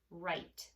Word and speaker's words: write: Okay, so if we think about the word write, the sounds we hear, I, t. But you probably remember there's something tricky in there, right? There is a silent W with the R, and then we have our I, T, and that silent E.